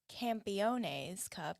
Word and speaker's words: Campeones Cup: So last night we had the opportunity to go to the Campeones Cup.